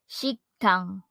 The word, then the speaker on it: 식당: our place noun restaurant which in Korean is pronounced as shiktang next we have here our place noun restaurant